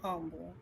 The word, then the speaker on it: Humble: he said yes the h is solid like wild cat i mean it h is silent wildcats i don't know he's in my humble oh that's that's the